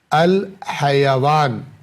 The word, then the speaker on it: الحیوان: یا سے بنتا ہے، جس کو ہم حیوان کہتے ہیں، لیکن عربی زبان میں جو صحیح تلفظ ہے الحیوان، الحیوان۔ الحیوان کے دو معنی